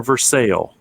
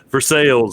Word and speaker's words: Versailles: I believe they like to pronounce the S on the end in Kentucky.